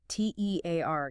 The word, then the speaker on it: tear: T E A R gives us tear rhyming with here or fear.